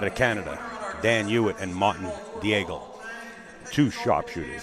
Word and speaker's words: Daigle: Canada Daniel and Martin Diego two sharpshooters see I pronounce that Daigle Daigle is the right pronunciation oh yes just like